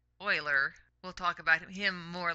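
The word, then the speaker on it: Euler: be using this this is Oiler here's Oiler pronounced Oiler we'll talk about him more later in the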